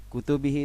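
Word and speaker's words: كتبه: Bakar As Siddiq Hai di sini bacanya kutubi kutubihi di sini ada jamak dari kitab kutubihi kalau kalau misalkan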